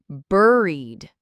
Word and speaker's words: buried: This one, it sounds like bury, but with a D at the end. Buried.